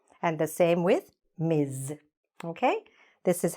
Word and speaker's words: Ms: is married or not and the same with miz okay this is how we write it this is how we pronounce it let's go to the next pair